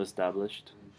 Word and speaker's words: established: The ed pronounced like de or te. With established, it's like a t. Yeah. Mm-hmm. This sh kind of makes it a t sound at the end. So established. It's established.